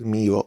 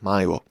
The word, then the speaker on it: Milo: And because he's Greek, his name is pronounced Milo and not Milo.